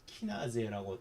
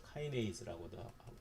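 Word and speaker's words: kinase: 일을 도와주는 인산화효소 인산화효소 영어로는 말로 할 때는 키나제라고 하기도 했는데 요즘은 언어 발음을 따라가는게 대세죠 그래서 카이네이스라고도 하기도 하고 인산화 효소 인산화 효소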